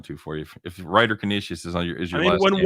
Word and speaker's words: Canisius: Well, I'm saying it incorrectly. It's Canisius, but I'm saying Canisius.